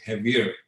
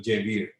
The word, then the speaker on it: Jaiveer: And I've had the fortune of being in Mexico, where my name is most probably pronounced as Javier instead of Jaiveer.